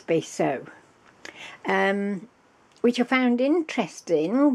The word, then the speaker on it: Basso: but so now I think I've got that pronunciation right I'd said to you before when I mentioned it Basso or bass so anyway I decided to look